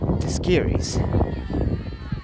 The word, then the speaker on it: Tiskiris: Now to bat is Tiskins. 1 out. Excuse me. Sophia Tiskiris. That's how you pronounce that name.